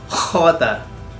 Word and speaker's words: jota: Pero imagine niyo na lang na parang ilinalabas niyo yung kinain niyo. Jota. Sorry sa mga Spanish speakers out there. I'm trying to make it really sound like the genuine Jota.